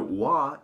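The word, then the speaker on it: 和: No, wa is the actual pronunciation for the kanji of harmony.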